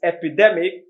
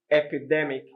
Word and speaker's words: epidemic: of them two of them epidemic and epidermis both have the stress on the d e epidemic d e epidemic d e r what's the difference between them the difference is d e is a short vowel sound y d e r is a long vowel sound do you get that